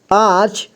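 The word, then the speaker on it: आंच: इसके बाद ग जंग यहां आ यहां आ है इसमें अं की मात्रा लगा है तो इसे पढ़ेंगे आ आ पढ़ेंगे ठीक है यानी कि यहां आ का साउंड आ रहा है आ इसके बाद च आच तो देखिए अं की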